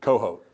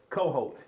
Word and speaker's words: Cohoat: Now, help us to pronounce your last name correctly. Coho. Coho. Cuz I I know I messed it up before and now other people mess it up. Coho. Just how it sounds phonetically.